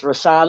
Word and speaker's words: Rashawnda: It's Rashonda. I'm going to spell it.